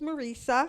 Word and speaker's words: Marissa: talked to that customer my name is Marissa and I rhymes with Lisa and I'm part of